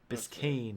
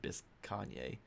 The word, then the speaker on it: Biscayne: __ ] Jurassic Park Biscayne is how you pronounce that oh well then they should probably change it because it looks like bisque Kanye what the way that is spelled we're gonna go I